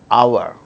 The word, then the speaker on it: hour: for instance words beginning with a silent h in the words hour an hour an honor an honest man an heir an honorable man in all these cases